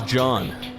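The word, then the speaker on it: Jeanne: hurry stay another oh they pronounced her name as John got it got it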